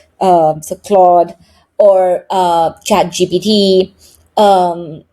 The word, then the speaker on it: Claude: So I use Gemini or Cloud or Claude or however that's how they pronounce that. Some people say E is silent. Um, so Claude or uh Chad GBD.